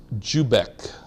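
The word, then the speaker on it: Dziubek: It's pronounced Jubek. DZI has that hard J sound.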